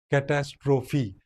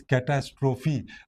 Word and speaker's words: catastrophe: So we have to pronounce this last part. You know it is catastrophe.